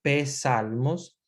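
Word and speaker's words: psalmos: se dice salmos pero en latín viene con pe delante pe salmos y la pronunciación ex salmos como si fuera psicología y psicología que viven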